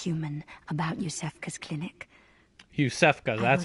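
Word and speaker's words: Iosefka: tell anyone who's human about youssef cos clinic youssef go that's how you pronounce it I keep saying Isis when they're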